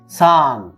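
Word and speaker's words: 三: সান। খেয়াল রাখবেন, সান, সা এন, সান। ইচি নি সান। এটা রোমাজি যদি আমরা লিখি এস এ এন, বাংলা উচ্চারণ সান।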